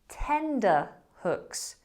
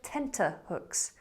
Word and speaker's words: tenterhooks: But many people mispronounce this word as tenderhooks. Tenderhooks instead of tenterhooks.